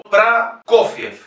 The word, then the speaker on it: Prokofiev: Sergei Prokofiev. Fíjense que la primera O no está acentuada, por lo tanto es Pra. La segunda O, siendo llana, tiene la sílaba tónica y es O. Prokofiev.